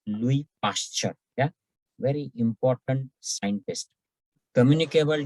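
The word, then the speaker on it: Louis Pasteur: to other person now louis pasture remember this is pronounced as louis pasture yeah very important scientist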